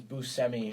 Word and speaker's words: Buscemi: I looked it up the correct pronunciation is Buscemi no no no you're